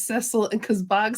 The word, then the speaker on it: Cecil: He's called Cecil in the show, but the British way to say his name is Cecil, and because Bogz says